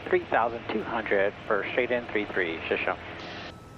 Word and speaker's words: Shoshone: And yes, that is how you pronounce it. We confirmed it with the locals. Shashani. Traffic one enter three man hotel 6 miles to the south descending through 3,200 for straight in 33. Shashony.